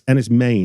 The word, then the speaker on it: Enys Men: Yeah, so it's as if it's spelled M-A-N-E. Yeah. So it comes from the Cornish word menhir, which means standing stone or long stone. And main being the first syllable meaning stone.